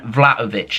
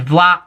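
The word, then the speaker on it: Vlahović: January transfer window Ducan vladovic now I've been told I don't pronounce the ha so I'm going assume it's just take the ha out which is vlov vlov V vov is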